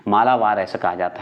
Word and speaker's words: मालाबार: मालाबार तट कहते हैं आप पे डिपेंड करता है मालवाड़ कहिए मालाबार कहिए कोई दिक्कत नहीं है लेकिन मालाबार ज्यादा शुद्ध उच्चारण होता है जैसे कि देखिए केरल